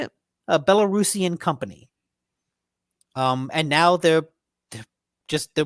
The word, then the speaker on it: Belarusian: And that's kind of a big deal because Wargaming was originally a Belarusian, Mm-hmm. is that how you'd say it? That's how you say it. A Belarusian company.